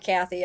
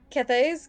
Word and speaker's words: Cathay: It's not Kathy. I keep wanting to say Kathy. Kathy? Cathays. Cathays? Cathays? Cathay. It's basically Cathay. Cathay, yeah. Someone goes, not gonna lie, Cathay's great cannons are automatically